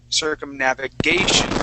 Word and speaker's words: circumnavigation: a okay circumnavigate then when we add the shun on the end okay we say circumnavigation so uh the accent would then fall at the end of of the word right after that you